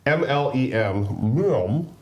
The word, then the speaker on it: Mlem: MLEM, Space I Agency. say Mlem, like Meow.